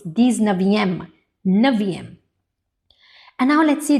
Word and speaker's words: dix-neuvième: Yes, it's not dix-neuvième. It's dix-neuvième.